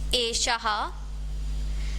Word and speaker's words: एषः: अब मैं बार बार ह साउंड जो है वो प्रोनाउंस कर रही हूँ यहाँ पर एषः, जबकि यहाँ ह नहीं लिखा है। तो ये जो प्रोनाउंसिएशन है ह वाला, ये कहाँ से आया है, ये विसर्ग से आया है।